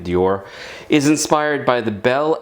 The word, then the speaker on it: d'Or: Um it says that Lindamman's door is and it's d apostrophe o r so I'm pronouncing it Dior is inspired by the bell eloquent epique era of the late 1800s and early 1900s.